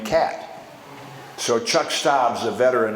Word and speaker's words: Kaat: to spring training and everybody pronounces my name cat so Chuck stabs a